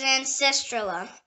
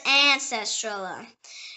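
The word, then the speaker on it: ancestrula: The next word is ancestrala. It can also pronounce ancestrala.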